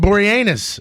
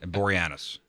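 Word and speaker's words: Boreanaz: Uh David Borenus. He is 48. What? Yep. That's not how you pronounce his last name, but that's gold. How do you say it then? Borianis.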